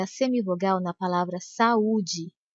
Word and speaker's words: saúde: a semivogal na palavra saúde. Sa-u-de. Essa era uma pegadinha. Se você percebeu que a letra A e a letra U são pronunciadas com a mesma intensidade e as duas são vogais, você acertou.